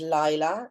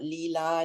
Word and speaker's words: Laïla: My name is Laïla, not Lila, Laïla, and it's very important to me because it's a very strong part of my identity.